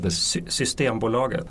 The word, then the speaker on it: Systembolaget: Systembolaget.